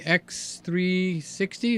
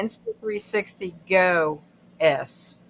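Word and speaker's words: Insta360 GO S: new cameras we have the X360 is that the right way to say it uh s is new did I say it right S no you say you say that one okay say it insta 360 go s okay the insta 360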